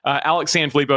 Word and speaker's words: Alex Sanfilippo: But anyway, Alex Sanfilippo is how it's pronounced.